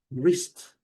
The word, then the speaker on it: wrist: Wrist. Wrist é o nosso pulso. Nós temos que já abrir nosso vocabulário. A pronúncia é bem simples. Wrist. Colocando aquele U aqui. Wrist. Wrist. E o T.